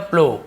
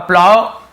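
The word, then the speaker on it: plough: ये क्या लिखा है प्लो इसे हम प्लो पढ़ते हैं प्लो यानी क्या होता है हल उसे हम प्लो कहते हैं ठीक है अब प्लव ऐसे बहुत सारे प्लो बहुत स प्लव दोनों ऐसे उच्चारण करते हैं और ये क्या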